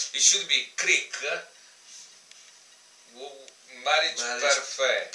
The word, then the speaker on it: Parfait: We already tried this, and we don't know how to pronounce it between the two. So, it should be Kriek Marriage Parfait. Parfait.